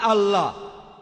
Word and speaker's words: আল্লাহ: এ এল এ এইচ তারা বলে এলা আমরা বলি আল্লাহ আমি যখন স্কুলে ছিলাম